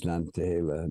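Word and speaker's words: Nantahala: So we have a place that's an overlay called Nantahela, or whatever how it's pronounced along the way. Now it's Nantahela. Nantahela means, it's a rhetorical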